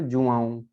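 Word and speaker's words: João: ओ, है ना, तो उसको हमें क्या पढ़ेंगे, जुआऊं, जुआऊं, जुआऊं, है ना।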